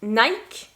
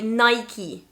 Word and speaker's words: Nike: to say that like nike nike but in english british english we are going to say nike nike so the difference is in the last sound e the second one is